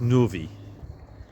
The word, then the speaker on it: Neuvy: can be sure that the pronunciation for this little town is Novi and we're not far